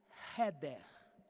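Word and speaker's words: חדר: palavra quarto o quarto no hebraico se diz heer esse R se escreve com ch mas tem som de R o quarto aqui no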